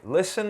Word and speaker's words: listen: exemplos para você lessen então aqui eu tenho ST e eu não pronuncio t Listen é o verbo ouvir